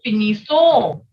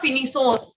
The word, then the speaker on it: finissons: Nous finissons. Listen again. Nous finissons. Not finissons, no. The last S will not be pronounced.